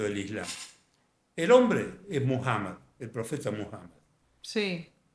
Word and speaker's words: Muhammad: El hombre es Muhammad, el profeta Muhammed. Sí. que llamamos Mahoma porque es una desnaturalización del nombre árabe que no es fácil para que todos lo pronuncien.